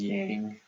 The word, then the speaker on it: yang: we'll read this as Yang and this is Yin and say yin and yang yin and yang are a little bit closer to the Chinese pronun um pronunciation of it now yin and yang